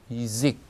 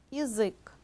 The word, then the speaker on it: язык: 그런데 강세가 야에 없어요. 그 뒤에 있는 모음 의에 있고요. 그래서 야직 그러지 않고 이직 이렇게 합니다.